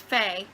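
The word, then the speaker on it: Fei: From what I understand, there is a village where the main character, I believe her name is pronounced Faye, and she lives in a village where she is completely cut off from pretty much the rest of civilization.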